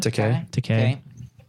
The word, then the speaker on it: Takei: Takei. In a bathroom at a Connecticut, which is like, I mean, where else would you want to meet? I met Many George other Takei places.